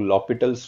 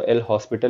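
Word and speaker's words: L'Hôpital: Fair ना बच्चा लोग, ऑल दो हम लोग ने इसको एल हॉस्पिटल लिखा है, बट we don't pronounce it like this, we always call it एज लॉपिटल्स rule. Okay, सो इसको हम लोग बोलते हैं लॉपिटल्स रूल।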